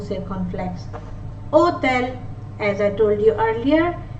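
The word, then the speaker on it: hôtel: Hotel, as I told you earlier, H is usually muted in French, so we will begin the pronunciation of this word from the letter O with an accent circumflex. Hotel. Hotel.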